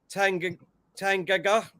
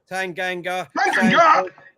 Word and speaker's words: Tanganga: And for Tottenham, we've got Lores, Tangaga. Is that how you say it, Diesel? Hang on. Tanganga.